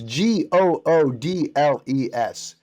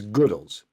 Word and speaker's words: Goodles: at that pronunciation, it's Goodles. Right, Goodles. It's Goodles. But, go ahead. But, it's a it's a noodle, so we understand that they're doing a play on the word noodle, and so you want